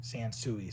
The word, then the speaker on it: Sansui: I actually had to look on YouTube and I had to type this name in to figure out how to pronounce it. Sansui.